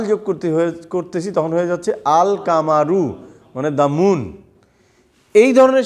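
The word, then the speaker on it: القمر: যখন আমি আল যোগ করতে তখন হয়ে যাচ্ছে আল কামারু মানে দাম মুন এই ধরনের শব্দ বা এই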